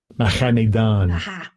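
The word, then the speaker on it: Mahaneh-dan: I don't know if it comes over here, but I'll pronounce it. Strong's H 4265. Mahanidon. Mahanidan.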